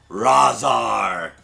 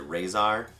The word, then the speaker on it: Razar: Razar. As a kid, I always pronounced it Razor. And now I have to, like, correct myself. It's hard.